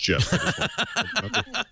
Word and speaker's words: GIF: And so this morning, in response to someone else's tweet I wrote, just as a reminder, the GIF graphics format is in fact pronounced GIF.